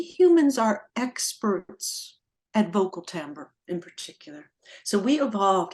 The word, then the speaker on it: timbre: constantly communicating with one another chapter seven is Timbre this is what music conjures for anybody who's unfamiliar and by the way it's spelled t-i-m-b-r-e what is Timbre I took a